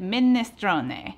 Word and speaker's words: minestrone: Or, like my aunt, who's Italian, pronounces it minestrone.